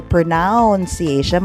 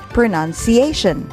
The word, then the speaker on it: pronunciation: look at the syllable there is just n u n there is no o there so you do not say pronunciation but you say pronunciation the accent is on